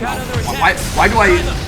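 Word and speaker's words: Malboro: Yeah, it's just pronounced Marlboro. Why did I think there was an R there?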